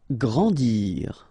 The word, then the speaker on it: grandir: Grandir. So remember that when you get these G and R together, you get the sound gr, okay? And after that, A, N, en. grandir, grandir.